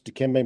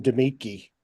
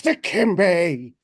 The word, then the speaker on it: Dikembe: And I used to mispronounce Dikembe Mutombo's name, Uh, and it would make Dave just hideously mad in college. I called him Demetki, and even after he corrected me, I kept calling him that just because he just got piss them off.